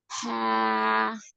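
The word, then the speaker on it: حاء: হা, হ্যাঁ পুরো হা উচ্চারণটা হচ্ছে তবে একটু প্র্যাকটিসের প্রয়োজন। হ্যাঁ হ্যাঁ, আবার বলুন। হা, হা। হা, হ্যাঁ মানে ভিতর থেকে বাতাসটা বের হবে।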